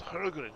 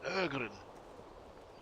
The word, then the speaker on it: Hergren: That's right, you even said it right that time with the H be silent. The H is silent? Yeah, it's not Hergren, it's Ergren. It's like guttural, you know.